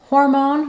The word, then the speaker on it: hormone: testosterone and progesterone so in hormone we have first syllable stress the stressed letters o